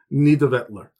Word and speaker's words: Nidavellir: stops being confusing, is Nidavellir, which it took me many YouTube videos to be able to pronounce it. It's not spelt like that, but it is Nidavellir, which means dark fields.